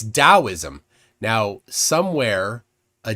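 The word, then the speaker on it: Taoism: um Jason says it it's not taism it's dosm now somewhere a d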